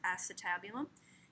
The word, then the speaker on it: acetabulum: socket is called the acetabulum that's how it's pronounced acetabulum it's near the s even though it's spelled